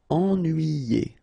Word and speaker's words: ennuyé: Okay, so first en, then nuit, then yé. Ennuyé.